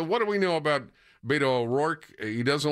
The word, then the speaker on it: Beto: Rick, you're saying it wrong. It's Beto. How about Robert?